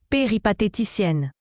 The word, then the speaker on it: péripatéticienne: Péphéticienne se prononce péripathéticienne.